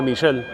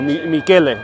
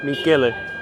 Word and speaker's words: Michele: called the Pizzeria da Michel. Or Michele, sorry. That's, I was pronouncing it pretty Spanish. Michele.